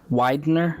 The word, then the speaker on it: Widener: And FYI, the last name is pronounced Widener. Widener. Not that big a deal, but I mean. No, it is. Because I was thinking, I'm like, But we always said Widner and nobody corrected us.